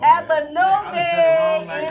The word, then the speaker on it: Abanobi: Is it Nami or Nobi? Nobi. Oh, Abanobi in the building. I done said it wrong like 2 times already.